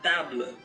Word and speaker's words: table: It's just gonna be table. Yung last na is muted, so you don't have to pronounce it.